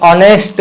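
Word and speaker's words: honest: बाद में एन ऑनेस्ट बॉय, यच का हम ये नहीं करते, ये साइलेंट है यहाँ पे। एन ऑनेस्ट बॉय। एसडीओ का क्या आएगा?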